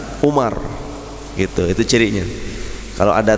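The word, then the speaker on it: عمر: Kalau tidak ada wawunya di depan, Umar.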